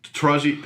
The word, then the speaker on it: Taraji: like to read and enjoy uh reading um taraji am i saying it right yes she's fantastic